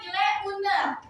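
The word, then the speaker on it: il est une heure: Nah, kalau misalkan 1:00 itu dibacanya kan ile une. Boleh diulangi? Ile une. Ile une. Ya, jadi haknya nggak dibaca ya. Asnya nggak dibaca, jadi langsung ile une.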